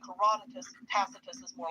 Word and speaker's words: Tacitus: Tacitus in Latin, Tacitus as he's pronounced in English.